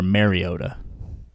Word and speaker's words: Mariota: Is it Mariota or Mariota? I think I've heard the pronouncer say Mariota, so I'm going to say Mariota.